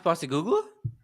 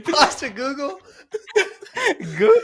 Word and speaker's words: Postecoglou: You interviewed Ange Postecoglou?